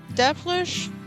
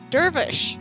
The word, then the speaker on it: Dervish: Our goal is to grab Devilish? Dervish? Dervish. I've always called them Devilish. Okay, Dervish and Mosaics. Dervish and Mosaic. I've been pronouncing it wrong this entire time.